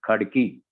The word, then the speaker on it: Khadki: In Marathi or Hindi we get Khadki.